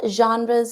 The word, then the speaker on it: genre: or a different genre notice how we pronounce genre differently in English so frre but in English we say genre so what are the